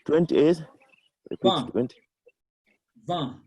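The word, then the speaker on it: vingt: Van. So I-N-E. letter G and T are silent.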